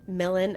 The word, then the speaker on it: Milan: It's spelled like Milan, but apparently that's not how you say it. Milan, Ohio.